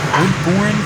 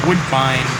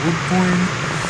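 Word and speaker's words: Woodbourne: All right, we just pulled into our next stop, Woodborne, Pennsylvania. I I actually mispronounced it as Woodvine, but yeah. Here's the But yeah, now we're in Woodborne.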